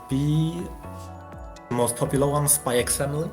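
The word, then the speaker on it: Spy × Family: Yeah, you don't pronounce the X. I'm more of a fan of pronouncing the X in this case. Like with Hunter x Hunter, I don't pronounce it as well, obviously. Yeah. Yeah, also, I think it sounds better with Spy X Family.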